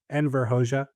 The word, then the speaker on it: Enver Hoxha: And then read after that Euro Communism is Anti Communism by, not sure exactly how you pronounce his name, Enver Hoxha, um, former leader. Enver Hoxha.